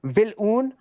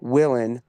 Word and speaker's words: Vilun: specifically Vilun on the German side, pronounced now Willen, as per America, because we changed the pronunciation of our name. But it used to be Vilun. Now it is Willen.